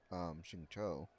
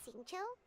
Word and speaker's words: Xingqiu: His brother asked the funeral parlor to keep this a secret, but technically the information did leak from Xingqiu, that his brother had contacted the funeral parlor,